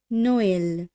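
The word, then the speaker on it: Noël: বন্ধুরা খুব ভালোভাবে লক্ষ্য করুন, এই ক্ষেত্রে যে বর্ণটির সঙ্গে থ্রেমা চিহ্নটি আছে সেখানে যেন আমরা কোথাও একটু জোরপূর্বক উচ্চারণ করছি, বা বলতে পারেন ওই অক্ষরটি যেন গোটা শব্দের মধ্যে সব থেকে বেশি গুরুত্ব দিয়ে উচ্চারণ করা হচ্ছে।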